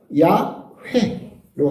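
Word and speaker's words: 야훼: 그래서 처음에 하느님 이름의 앞발음은 야가 맞아요. 근데 뒷발음은 웬지 왠지는 잘 모르겠어요. 지금 성경학자들은 그래서 야 회로 합의를 이렇게 봤죠. 왜인지 회인지는 모르겠다. 하여튼 정확하게 그래서 지금 현재 하느님 이름이 우리가 야회라고 부르는데 그건 대략 한 97% 정도 맞을 거다. 그렇게 보고 여호와는 100% 틀린 발음이다라고 하는 건데 그걸 그대로 가져와서 지금 발음하고 있다.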